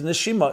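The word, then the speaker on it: neshima: And indeed in Hebrew nishama soul pronounced differently is nishima is breath breath and soul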